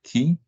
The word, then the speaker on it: ki: roots in Korea so I prefer to use the Korean way of pronouncing chin and that is key and as you see